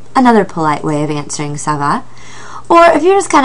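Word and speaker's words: ça va: under the C in Sava which tells us to pronounce that c like an s p or p is how how you would say not bad and you another polite way of answering Sava or if you're just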